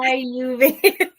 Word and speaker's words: Ayurveda: Do I pronounce it right? Ayurveda. Close. Almost. Yeah. Ayurveda.